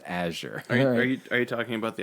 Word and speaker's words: Azure: so funny the number of people who say Azure and like it's a sure the word is pronounced a sure are you talking about the actual word like